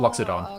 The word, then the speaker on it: Loxodon: L There's an O in there that he's not saying. Yeah, Loxodon. Oh. Loxodon.